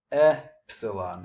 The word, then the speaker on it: epsilon: Right after delta, we get epsilon. Epsilon, as in delta.